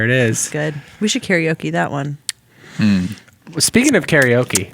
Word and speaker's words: karaoke: saying it correctly because it's supposedly in japanese it's pronounced like like karate so so uh i